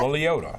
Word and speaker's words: Liotta: I think you pronounce that Ray Liotta? Liotta. That's how you pronounce it.